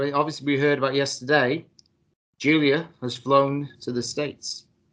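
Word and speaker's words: Giulia: just said it as gulia no it's Julia no it's pronounced Julia it's Julia with a G yeah and a bunch of extra letters sounds like she from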